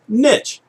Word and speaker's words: niche: And it turns out that for almost 500 years or so, it's been pronounced niche.